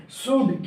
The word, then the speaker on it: should: इसीलिए क्योंकि बाबू सूल्ड होता ही नहीं, सूड क्या होता है? सूड। अब बोलो कि एल कहाँ गया, तो एल साइलेंट होता है, चुपचाप।